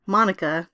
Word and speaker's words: Monica: And of course, at the end of the book, he does get the puppy, which he names Monica to rhyme with Hanukkah, which I thought was sweet.